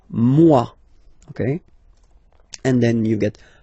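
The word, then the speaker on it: moi: So remember this o e combination give you the sound waw mwa.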